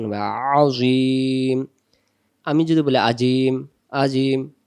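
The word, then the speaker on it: عظيم: দেওয়ার জায়গা আছে পেশটা মনে মনে বাদ দিব উচ্চারণ হবে আজিম আমি যদি বলি আজিম আজিম এ আইন হবে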